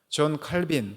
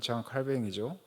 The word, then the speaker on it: 장 칼뱅: 살아갈 두야 될 것니다 칼빈 또는 장 칼뱅이 하는 정확한 말하면 발음은 장 칼뱅이 어 장 칼뱅은 직업